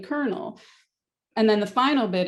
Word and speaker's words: colonel: And if you know that, you spell it with an L, even if you're still saying colonel.